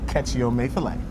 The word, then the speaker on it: Kechi Amaefule: I am joined by Kechi Amaefule. Kechi Amaefule. Did I say it right? You did.